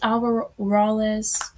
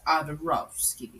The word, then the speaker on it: Adorovsky: Yes, Miss Alvarez. That's not how you pronounce it. And then how do you pronounce it? Miss Adorovsky.